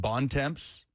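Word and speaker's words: Bontemps: He he pronounces it bonds which just is so disappointing. I thought you had like a seizure. It's like what are you trying to say? No, it's B O N T E M T S Bon.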